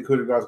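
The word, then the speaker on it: coup de grâce: The coup de grace that he hit, I thought it was gonna be over, and then it wasn't. Coup de grace, the S apparently is pronounced.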